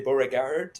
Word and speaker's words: Beauregard: And I know when you're speaking to Anglophones, you say Beauregard, and as opposed to the Francophones.